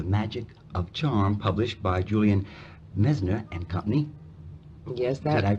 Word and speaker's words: Julian Messner: And the book, That Certain Something, The Magic of Charm, published by Julian Messner and Company. Yes, Did I pronounce that right?